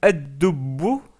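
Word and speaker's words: الدب: Donc toutes ces lettres se doublent au début, donc c'est pour ça qu'on met une shadda et on ne prononce pas le lem. Par exemple, le mot at-tilmidu, que nous venons de voir, le mot ad-dubbu, qui veut dire l'ours,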